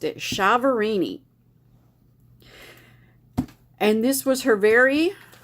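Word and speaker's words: Chiaverini: commentator called her jennifer chavorini so that's how i'm going to pronounce it because that's how the news guy pronounced it chavorini and this was her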